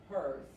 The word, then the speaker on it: hers: Y también se pronuncia como la Z. Hers.